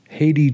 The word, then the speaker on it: Hathi: something known as the Haiti Trust. It looks like Hathi Trust, but they say it's pronounced Haiti, much like the country.